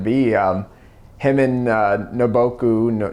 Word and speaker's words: Nobuko: um him and uh naboku nobuko i think is how it say i keep saying it wrong um are married their